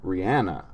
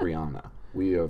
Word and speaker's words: Rihanna: Also, she pronounces her name Rihanna, not what? Rihanna. But every radio DJ is like, Rihanna.